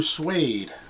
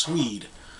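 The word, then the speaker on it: Swede: Hooked on a Feeling by Blue swed not blue suede I believe it's pronounced swed I know what boys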